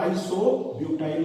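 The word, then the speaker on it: isobutyl: जाएगा, आइसोब्यूटिल alcohol, और अंग्रेजी में इसका उच्चारण क्या होगा, आइसोब्यूटाइल होगा, ये कॉमन नेम।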